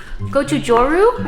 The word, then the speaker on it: Gochujang: Gochujang, I believe is how you pronounce it.